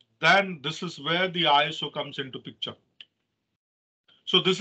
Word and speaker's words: ISO: for standardization uh uh it is it is pronounced as iso iso means in greek iso means equals so